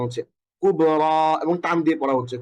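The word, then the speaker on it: كبرى: যেমন ঈসা মুসা আরেকটা এক্সাম্পল আমরা এখানে দেখে এসছি এইযে কুবরা এটাও দেখতে পাচ্ছেন যেখানে শেষে একটা ইয়া আছে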